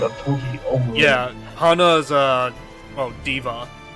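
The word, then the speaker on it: D.Va: Yeah, Hana's, Diva is how they pronounce it.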